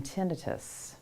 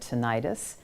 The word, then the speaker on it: tinnitus: may also result in tinnitus sometimes people call that tinnitus either either pronunciation is just fine so tinnitus refers to